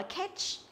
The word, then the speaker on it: catch: Chúng ta đọc là catch, catch, tức là đọc thành âm e rồi, đúng không?